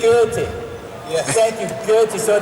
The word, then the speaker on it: Goethe: I just want to tell you the proper pronunciation of the German guy's name. It wasn't terribly wrong. It's Goethe. Goethe.